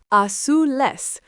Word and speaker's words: azules: Los coches azules, pronounced azules.